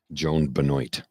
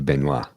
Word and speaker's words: Benoit: marathon was won by, this is how she pronounces her name, so I'll say it. Joan Benoit. Okay. She's from Maine. We would say Benoit.